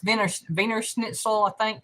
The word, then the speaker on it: Wiener Schnitzel: i know it's spelled wiener schnitzel but it's pronounced venus veiner schnitzel i think like that treasure hunter had it